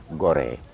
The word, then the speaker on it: Gorée: Les Portugais, on a premier découvert l'île de Gorée, un navigateur qui s'appelle Denis Diaz.